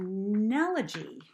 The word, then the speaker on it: enallage: And it's called an analogy. kind of like analogy but spelled like enalage.